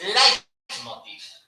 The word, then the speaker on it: leitmotiv: término muy literario, el leitmotiv. Mira, no. O lo dices bien o no lo dices. Es leitmotiv. Pues es una palabra alemana. Y en alemán EI se lee AI.